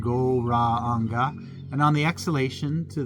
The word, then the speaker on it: Gauranga: And it's kind of even though it's Gauranga, it's 4 syllables, Gauranga. And we're just going to do 3 Gaurangas together.